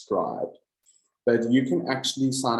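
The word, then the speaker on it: Scribd: think it's pronounced scribe I don't think it's pronounced scrid I think it's pronounced scribed but you can actually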